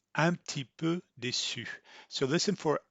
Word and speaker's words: un petit peu: instead of an issue she's going to say am tipu so listen for antipo if you wanted to pronounce that you'd you would close your mouth